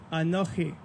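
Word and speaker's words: אָנֹכִי: give it to you anokhi all right in English it's phonetically spelled a-n-o-c-h-i phonetically mind you probably not literally but that in itself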